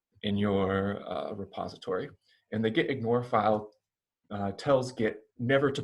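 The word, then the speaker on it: .gitignore: starts with a dot the name of the file is git ignore we just pronounce it as the git ignore file and we don't say the dot so it's not the dot get ignore file it's just the get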